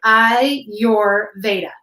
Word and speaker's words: Ayurveda: two yoga meditation is Ayurveda and you pronounce that I your Veda and it is the